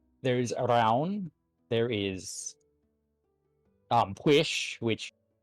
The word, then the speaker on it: Pwyll: There is Arawn, there is Pwish, which, looking at Pwish, you would not be able to pronounce it. Oh yeah, no. Because because it's PWYLL.